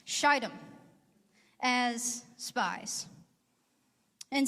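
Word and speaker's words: Shittim: two men secretly from sheidom that's a long eye if you tell anybody about the sermon later make sure you pronounce it right shitem as spies and saying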